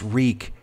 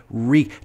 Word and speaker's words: wreak: wreck havoc no it's reek w-r-e-a-k reek just look at if